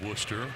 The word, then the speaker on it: Worcester: But yeah, it's Worcester. Isn't there an R and a C and an H and all these weird letters in there that you're not saying? That doesn't mean anything. That's how they say it.